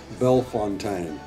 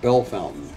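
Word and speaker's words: Bellefontaine: Box Masters yes and on the internet pronunciation thing it says belf Fontaine Ohio uh but our buddy John dolphin told us that the locals call it Bell Fountain so at the risk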